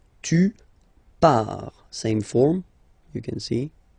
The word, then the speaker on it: pars: Okay, so the first form is je pars, so final S not pronounced, je pars. Tu pars, same form, you can see here and here.